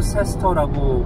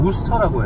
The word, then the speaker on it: Worcester: 대학교를 다니는 친구가 있어요 도시 스펠링이 worcester인데 스펠링 대로 발음하면 5월 세스터라고 발음을 해야 되는데 도시 이름은 그냥 무스터라고 해요 거기로 가고 있습니다 비가